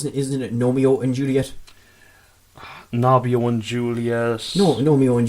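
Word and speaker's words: Gnomeo: No, I think you pronounced that wrong. Isn't it Romeo and Juliet? Nobio and Juliet.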